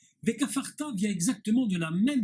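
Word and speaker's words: וְכָפַרְתָּ: le Dagesh au milieu, sans le Dagesh du milieu, il se prononce F et non pas P.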